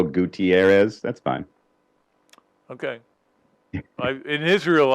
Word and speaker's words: Gutierrez: I mean, it's Gutierrez if you're saying it in Spanish. It's Gutierrez, the way I say it, the American. And then some people just throw in that extra syllable, Gutierrez.